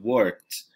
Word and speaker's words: worked: E, ó, presta atenção na pronúncia, tá? I worked. Tem um sonzinho aí de T, tá? Não é I worked, beleza? Em inglês a gente não separa aqui, tipo, 2 sílabas, tá? A gente vai dizer I worked, como se fosse um som, tá?